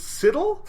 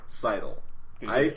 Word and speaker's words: sidle: I will accept that the word is pronounced sidle. I accepted that yesterday when we were talking about it because I've used that word in other contexts and I've said sidle.